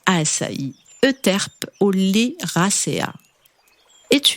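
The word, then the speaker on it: açaí: ou la spiruline assailli on l'appelle aussi assaï et se prononce à Sai Euterpe au lait racéa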